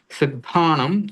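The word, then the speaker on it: सिद्धाणं: अभी संक्षेप में इसमें आप यही समझें कि इसमें हलंत म, जब शब्द के अंत में ये आ रहा है अनुस्वार, तो उसको हलंत म के रूप में हम उच्चारण कर सकते हैं।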